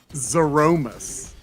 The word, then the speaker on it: Zeromus: very end but they haven't let's just see Zero must oh okay but the pronunciation is rather interesting it's zoromis wow which I I can I can accept